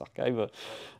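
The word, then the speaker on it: arXiv: publications donc archive arive ça s'écrit effecive mais ça se prononce archive euh donc sur archive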